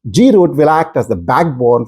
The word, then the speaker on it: GR00T: that's how it's spelled grot are pronounced grot will act as the